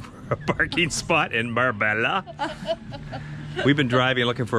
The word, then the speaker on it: Marbella: a couple of days we were calling it meribella until we got the correct pronunciation well this spot do ladies are we tired of the driving around looking for a parking spot in Marbella we've been driving looking